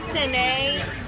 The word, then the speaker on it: penne: The panini. It's a penne pasta. Penne.